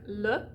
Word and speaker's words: le: do the same thing you're going to do a schwa in one syllable words ending in e so the word like le which means the or him